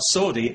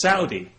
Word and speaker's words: Saudi: People have said to me, you know, you're pronouncing that wrong. It's not Saudi, it's Saudi.